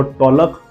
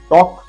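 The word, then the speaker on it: talk: टॉक, वॉक एंड काम, जिसको पढ़ना नहीं आता वो टॉलक, वॉलक एंड कालम पढ़ता है, ऐसे नहीं पढ़ना है। टॉक, वॉक एंड काम।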